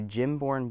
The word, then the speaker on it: Gimborn: It is called a Gym-born Beauty Hinoki Cypress. Or at least I think it's Gym-born Beauty. It's spelled Gimborn, so Gimborn, something like that.